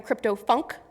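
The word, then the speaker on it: CryptoPhunk: The other is called a CryptoFunk, spelled with a PH, which is a derivative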